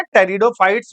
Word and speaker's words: टेरिडोफाइट्स: पेट्रिडो नहीं बोलेंगे। टेरिडोफाइट्स बोलेंगे। पी साइलेंट मैं बार-बार कह रहा हूं